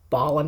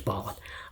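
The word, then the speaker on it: Bolland: Artists by Brian Boland, I believe it's pronounced. I've been saying Bolan my whole life, but I'm pretty sure it's Ballin.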